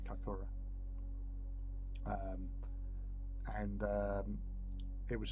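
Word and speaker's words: Kaikōura: Zealand in a a town called kakora or kakura wherever you want to pronounce it I call it kakura um and um it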